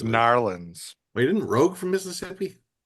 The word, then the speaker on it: New Orleans: It's pronounced Narlands.